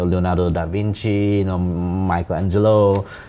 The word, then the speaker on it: Michelangelo: Oh, you know, Leonardo da Vinci, you know, Michelangelo, Michelangelo, I mean, you pronounce it the Italian way, right?